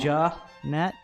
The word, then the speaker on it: Janette: Is it, so it's Jeanette? Jeanette, as opposed to Janet? Jeanette. How is it spelled? I can't see that. Janette. Oh, okay. I know Jeanette who called it Jeanette.